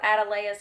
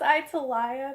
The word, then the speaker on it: Atalaya: thought it was called a delay is castle but it's actually Spanish supposed to be pronounced itíll ayah and oh